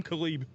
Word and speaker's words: Caleb: Did you hear how he pronounced his name? He said Khalib. I heard him. Some say Kale. I say Khalib. Some folks call him a sling. Very weird way to say Caleb.